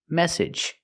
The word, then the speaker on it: message: It's a short sound. E plus the j like in juice. and jump edge message.